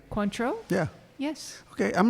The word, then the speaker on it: Cointreau: are using cointreau nice is that the proper pronunciation cointreau yeah yes okay i'm not i'm not checking